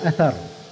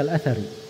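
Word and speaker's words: الأثر: Wal mukthiruna fi riwayatil athar. Harus disukun rohnya, jangan membaca al-athari.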